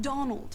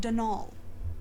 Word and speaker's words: Donal: the caretaker denal Delaney not Donald mind you there's no D at the end so it's pronounced denol that's the way you're